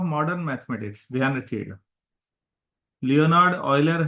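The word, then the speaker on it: Euler: mathematics ध्यान रखिएगा Leonard ऑयलर है य स्विस मैथमेटिशियन थे स्विटजरलैंड के तो इनके नाम पर है ऑयलर बोलते हैं व यूलर जैसा लगता है ऑयल की तर प्र प्रोनंसिएशन होगा थोड़ा उच्चारण पर ध्यान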